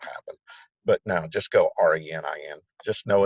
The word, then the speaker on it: renin: think that's what happened but now just go re ni in just know it's an enzyme and it leads